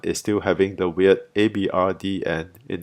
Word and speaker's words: abrdn: Aberdeen then continued its branding mishaps by renaming itself to Abrdn, pronounced the same way but spelt without all the E's.